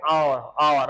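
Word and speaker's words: hour: He said she had been weeping for एन आवर है ना, आर कहते हैं इसको, मतलब एच को साइलेंट होता है।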